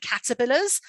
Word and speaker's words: caterpillar: can show them that the stress is on the first syllable caterpillar and then you can see